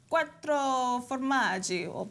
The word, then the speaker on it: quattro formaggi: in really telling you say it like a Quattro formaggio Bennett Quattro formaggi hey you've got valley joining